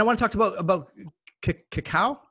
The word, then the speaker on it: cacao: And I want to talk about cacao.